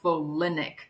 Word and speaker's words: folinic acid: Well, it's not either or, because there's also this form called calcium folinate, which is also called folinic acid. It has that extra syllable, and it's an important one.